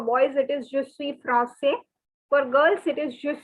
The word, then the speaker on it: français: would say je suis français. Je suis français. See, for boys, you don't have to pronounce the S. And for girls, you have to pronounce. That is the only difference.